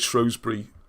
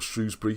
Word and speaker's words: Shrewsbury: One of the comments, feedback I got about my little video during the week was why is Shrewsbury, or Shrewsbury, depending on pronunciation, so important in that